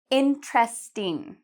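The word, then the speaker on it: interesting: Lặp lại sau khi tôi, xin vui lòng: "intresting", "in-trest-ing", "hấp dẫn".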